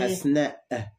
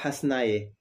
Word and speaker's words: Hasna: Alors, nous, on a tendance parfois à dire Asnae, on prononce non, le. C'est Hasna. Le E. Il faut dire le E à la fin. Ah, d'accord. Hasna. Asna. C'est pas Hasnae. D'accord. C'est un peu comme Asma. Asma. D'accord. Le E, c'est E. Le E, il faut le prononcer comme il est.